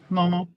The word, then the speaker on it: Momo: And Mooma Girls was in that one, or however you pronounce it. Momo.